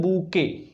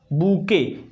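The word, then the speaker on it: bouquet: उसको बोलते हैं बूके। क्या बोलते हैं? बूके। स्पेलिंग ध्यान देना, लिखा जाता है बुकेट, लेकिन उसकी जो प्रोनाउंसिएशन होती है वो बूके होती है।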